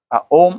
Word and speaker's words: Om: So that is why this Om or Om is very important. The perfect way to chant Om or Om is by Om only.